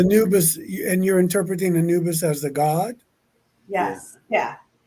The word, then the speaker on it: Anubis: on okay hold on just type in you spell it n-u-b-i-s a-n-u-b-i-s oh a n yeah Anubis I was doing the exact same thing okay I thought it was new but I thought she said noobus well maybe now maybe I've got that wrong